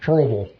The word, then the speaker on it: Kerrville: It should have said, and this is how you say it, Kerrville.